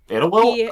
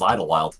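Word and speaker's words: Idyllwild: which is in California itwi oh that oh that's how you pronounced I thought it was Idol wild yes he was preceded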